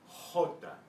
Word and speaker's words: jota: And, excuse me, the way you make the sound is in the back of your throat, like an H, except it's coming out of the guttural part of your voice box.